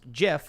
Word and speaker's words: GIF: gift will you pronounce jiff like normal people do three nazis only have those symbols because we let them that's true um the creator of the gif said it was pronounced jif so i don't know